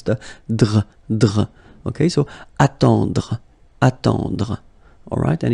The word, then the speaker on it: attendre: So remember this final L is not pronounced. Gentil, gentil, and it's nice or kind. Then attendre, attendre, remember final you don't insist on it, it